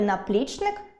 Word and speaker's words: наплічник: Так у слові “наплічник” я сильніше скажу склад “-пліч-”, отже, він буде наголошеним.